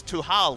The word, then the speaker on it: Tal: The correct pronunciation of Tal's name is Tuhal, which means to lock in Trundle.